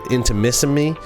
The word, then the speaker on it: Intimissimi: It's like intimacy, but Intimissimi.